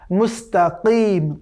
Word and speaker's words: মুস্তাকিম: সুতরাং মুস্তাকিম, কিম, এখানে হালকা একটু কণ্ঠের উপরে প্রেশার দিয়ে কফ উচ্চারণ করতে হবে, মুস্তাকিম।